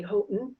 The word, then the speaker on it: Houghton: the U P when I when I say Houghton I have that glottal stop I don't say